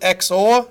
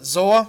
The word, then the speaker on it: XOR: the exclusive ol operator I pronounce it X or you might pronounce it ZOA it doesn't really matter and the XOR operator